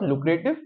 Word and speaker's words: lucrative: it Wednesday but it's not correct the correct pronunciation is Wednesday then third is lucrative not lucrative it's lucrative and the last one is scrutiny